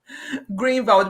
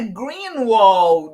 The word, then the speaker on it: Greenwald: Então o segundo nome tá perfeitamente se pronunciado greenwald porque as pessoas falam não é Green wall eu falei nada não